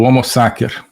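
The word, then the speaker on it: homo sacer: agamben que é o homo saker né homos saker uso aqui a pronúncia restaurada do latim né a pronúncia eh eclesiástica seria homo né mas o homo saker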